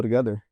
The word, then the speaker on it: together: So the T there in the middle becomes ra ra ra, sound like a flap T, go together.